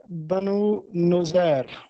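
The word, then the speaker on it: بنو نضیر: ہے، اکبر الہ آبادی۔ تیسرا لفظ تھا بنو نذیر۔ نذیر نہیں ہے بلکہ ایک یہودی قبیلہ تھا مدینے کا جو سازشیں کرتا رہتا تھا مسلمانوں کے خلاف، تو اس کا صحیح تلفظ ہے بنو نذیر۔ اس کے بعد ایک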